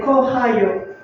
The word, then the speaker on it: кохаю: And let's say kohayu.